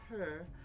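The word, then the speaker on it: parure: It's pronounced purr.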